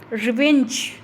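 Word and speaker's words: revenge: फिर है रिवेंज, winch, winch को हम ज़्यादा ऊंची आवाज़ में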